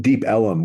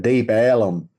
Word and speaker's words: Deep Ellum: had, they called it Deep Ellum. So they eventually changed the name to ELLUM, Ellum, because of the mispronunciation of it.